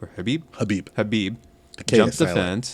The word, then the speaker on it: Khabib: how do you say, Khabib or Habib? Habib jumped the fence. The K is silent.